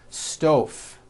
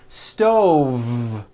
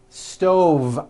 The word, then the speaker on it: stove: dinner on a hot stove was that correct no I should have said stove stove I cook dinner on a hot stove with a voiced V next word 5345 correct